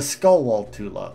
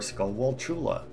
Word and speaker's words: Skulltula: correct uh these things this is a skull wall tula or a skull wall chula you know it depends on whether you pronounce it like tarantula or not oh no yeah it's